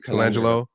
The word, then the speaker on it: Colangelo: Colangelo.